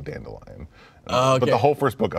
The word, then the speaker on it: Dandelion: Witcher books the audiobooks the first book he pronounces the character's name denne billion and the second book he pronounces it dandelion because it's actually dandelion the whole first book